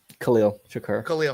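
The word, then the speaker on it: Khalil Shakir: Hollins, I'm going to say his name wrong. I think Sharif, right? Khalil Shakur.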